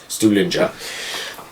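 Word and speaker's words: Stuhlinger: call him spilling cup but he's actually steward is pronounced studinger and of course you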